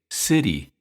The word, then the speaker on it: city: Phonetically, it's city, but again, the T is between two vowels, I and E, and the syllable T is unstressed, so we say city, city, city.